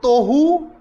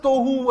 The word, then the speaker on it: tohu: And if you see, it rhymes with one another.